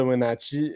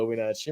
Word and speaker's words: Wenatchee: Ouais, d'ailleurs, à noter par contre que le Wild de Wenatchee était auparavant le Ice de Winnipeg.